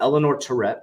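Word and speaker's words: Eleanor Terrett: you go follow him as well scoop via Eleanor Tourette I did say it correctly the SEC is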